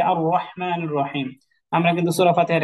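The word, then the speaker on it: رحيم: হয় র যেমন বিসমিল্লাহির রাহমানির রাহিম আর বাংলায় আমরা লিখি বিসমিল্লাহির রাহমানির রাহিম কিন্তু আসলে তো রাহিম হবে না রহিম হবে যেমন আলহামদুলিল্লাহি রাব্বিল আলামিন আর রহমানির রাহিম এই যে আর রহমানির রাহিম আমরা কিন্তু সূরা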